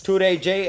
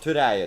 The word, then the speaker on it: Turaije: It's Turaije and not Turaya.